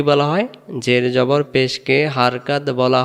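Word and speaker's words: با: চলুন আমরা এরপরে বা অক্ষরকে দেখি। অক্ষরের নাম কি? বা আবারো বলেন বা। অনেকে আমরা এই অক্ষরটাকে বে বলি। আলিবে তেছে এরকম যারা পড়বেন তাদের উচ্চারণ সহি হবে না। ভুল হবে।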